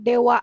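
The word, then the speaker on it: では: ini juga sama yang Dewa arimasen ini kan kalau hiragana itu DH arimasen tapi dia tidak dibaca di hari animation itu dibacanya Dewa harimau memang ada beberapa huruf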